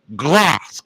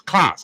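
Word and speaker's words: Kloss: So, we're going to get busy reading this book titled Back to Eden by Jethro Glass. Or is it Clauss? Clauss. K L O SS. His first name is spelled J E T H R O.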